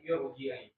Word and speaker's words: irji'i: Irji'i itu yang tebal. Ya. Jadi memang khusus untuk di surat Al-Fajr ya, walaupun itu dia kasroh, tapi itu tetap dibacanya tebal ya, bukan irji tapi irji'i. Nanti itu pengecualian tuh.